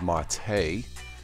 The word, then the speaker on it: MATE: Linux Mint 19 MIDI mate or it's pronounced Marte and we'll see how